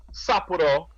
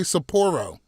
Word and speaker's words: Sapporo: as back up my sapuro premium beer so i i think you meant to say sapporo i i didn't that's not what i meant to do that's not how you